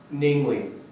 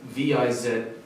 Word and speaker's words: viz.: Literally, like the literal title is VIZ period, which most people would pronounce viz. But when you're reading that word, you actually say namely.